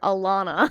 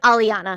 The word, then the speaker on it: Alaina: how it's spelled like people like when they see it they forget all the rules of letters they're like Aliana yeah like that's it it sounds how it looks when people see your